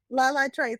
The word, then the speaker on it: Latrice: How did you pronounce it? Latrice. Latrice.